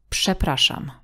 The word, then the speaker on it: przepraszam: As in the word przepraszam. Przepraszam. Although the first combination RZ is written differently, it is the same sound.